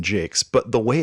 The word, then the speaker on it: Jacques: And they have this interview with Brian Jakes, which I should say this because I said Jacques or Jacques or something. Jacques. And I was corrected helpfully. Thank you. It's Brian Jakes.